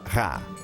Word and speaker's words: Ra: Champollion sabia que em copta o nome do sol em egípcio antigo se pronunciava Ra.